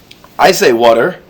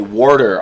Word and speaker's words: water: Water. I say water, but in New York, some people might say warder, almost as if it's spelled W-O-R-D-E-R.